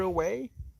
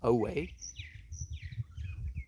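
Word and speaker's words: awe: and it's interesting because it's spelled a w e ah the way we say the a ah and then w e way not we our way so thank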